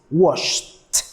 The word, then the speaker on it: washed: Okay, as you notice, the last sound is sh. No vibration. Sh. When turning into the past, we say that it is washed. Washed.